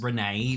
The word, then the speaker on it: Rene: project name titles project Renee is confirmed to be referred to as Renee because Renee sounds like the words renewal which is their way